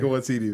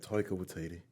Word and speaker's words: Taika Waititi: That's how Chris Hemsworth says it. Really? With his beautiful Australian accent, Taika Waititi.